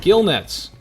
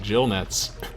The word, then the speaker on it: gill nets: you remember her research gill nets that's right I pronounced it correctly this time I can you believe it for like a year I was proud to get Jill nets hey I got that